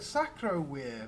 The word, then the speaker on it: Sacrovir: Sacrovir, very interesting. In case you don't know why I'm saying weir, a V in Latin is pronounced as a W.